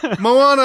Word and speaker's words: Moana: like like in the Thanksgiving week is it Mona or Moana I've looked at three trailers and they never once pronounced her name I thought he said Moana